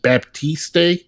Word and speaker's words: Baptiste: preoccupied by what what how do you say that last name baptiste b is silent that's a cool name